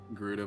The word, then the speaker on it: Gerudo: Gerudo village. That's how you pronounce it.